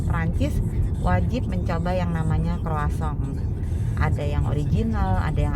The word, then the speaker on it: croissant: Tulisannya croissant, kita membacanya kalau di Paris itu croissant.